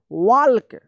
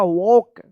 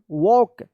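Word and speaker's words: walk: इसका सही उच्चारण होगा वॉक वॉक यहां पे जो है ना एल साइलेंट रहता है एल का कोई उच्चारण नहीं होता है हम भी बचपन में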